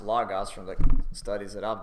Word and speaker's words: logos: is from a Greek word logos some people pronounce it logos but uh as far as I can tell it should be pronounced logos from the studies that I've done and this